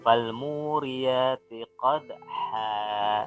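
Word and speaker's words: فَالْمُورِيَاتِ قَدْحًا: Dibaca fal muriyati qadha. Seperti itu. Bacanya agak panjang. terkecuali kalau tidak wakaf. Kalau tidak wakaf maka tanwinnya kembali lagi, bacanya jadi seperti ini.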